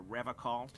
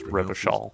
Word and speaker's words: Revachol: to stay strong for Revocol. So true, Gary. That's also not how you pronounce Revachol. Revocol with a hard.